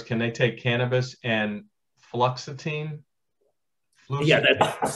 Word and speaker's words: fluoxetine: question, and I'm going to mess up the pronunciation of this, but their question was, can they take cannabis and fluoxetine? Yeah, that's fluoxetine or Prozac.